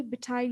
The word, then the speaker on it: betide: Betide. Detide? Betide. B as in boy, B tide. Behind? Tide as in tides of the ocean.